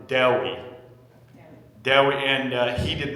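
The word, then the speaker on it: Dewi: Welsh philosopher named Deli Zephaniah Phillip so that's pronounced like Dair but with a W Deli Del and he did not like to be called Dewey uh I finished an Ma and philosophy in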